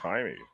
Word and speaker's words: Jaime: a jaime but it was spelled jaime but it was pronounced timey yeah yep yeah my